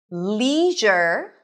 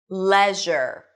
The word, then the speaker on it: leisure: Leisure. Leisure. Both are correct. Leisure. Leisure. Leisure or leisure.